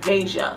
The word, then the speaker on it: Veja: how people pronounce it and the most common pronunciation is vasia like deja but vasia boom so if you